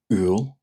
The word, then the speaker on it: Iúil: July, Iúil. Iúil. Iúil. You may also hear it pronounced as Iúil.